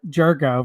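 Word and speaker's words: Gyorko: He was a he was an absolute he was talking about tough last names again like Jurgo. Jurgo versus spelled like G Y O R KO or something like that.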